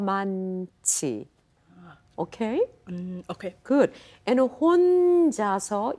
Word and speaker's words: 혼자서: A little more O. 혼자서.